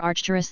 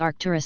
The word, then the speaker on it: Arcturus: word salad about Spiritual Beings from the Star archerus that's Arcturus spelled with an H because of h-bar Planck's constant